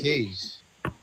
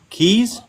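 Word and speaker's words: Kayj: Cage's real name is Cage. Keys? No, Cage. That's my actual name. Seriously? Yes, seriously. It's not His spelled actual K-A-Y-J.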